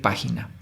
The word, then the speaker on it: página: Pa es la sílaba tónica, que sería última, penúltima, antepenúltima. La antepenúltima sílaba es la tónica, eso significa que es una palabra esdrújula y se debe acentuar, entonces acentuamos página.